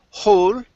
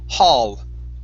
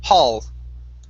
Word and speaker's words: hall: at that last word instead of saying hold it's going to be an ah sound hall hall good one more time